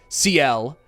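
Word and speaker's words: Sciel: before I realized that her name is actually pronounced the exact same way as a Mega Man Zero character, just without the S.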